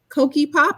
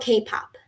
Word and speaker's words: K-pop: that one about the Koki Pop. I'm going to have to look them up. Did I pronounce that correctly, the group, Mia? It's called K-pop.